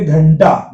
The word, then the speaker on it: घंटा: तो ट ठ ड ढ किसी के पीछे अगर पहले अगर बिंदी आई तो अण का उच्चारण करेगी। जैसे देखिए घंटा, घंटा में ट के पहले बिंदी आई।